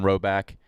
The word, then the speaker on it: Rhoback: Roback performance hoodies are quite possibly the softest hoodies we own.